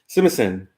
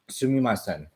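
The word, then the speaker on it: すみません: Sumimasen. Sumimasen.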